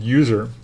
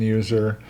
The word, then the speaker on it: usr: to the user folder there's no e in User it's USR and then finally the